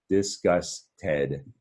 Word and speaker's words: disgusted: Disgusted is the syllables, 3 syllables in disgusted.